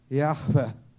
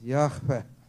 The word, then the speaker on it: Yahweh: Yahweh. ¿Sí? Ahí fue donde aprendí una cosa muy importante. Había un rabino mesiánico que describe que la pronunciación del nombre de Dios es como el mismo respirar.